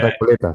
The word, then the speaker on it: Recoleta: Like I was looking for Borges in the cemetery at La Recoleta, or how do you pronounce it? La Uh, Recoleta, sí.